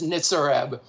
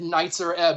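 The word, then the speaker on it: Nitzer Ebb: or ebb i've been i've been correcting people that it's nitsareb and douglas said knights are ebb on stage i couldn't handle it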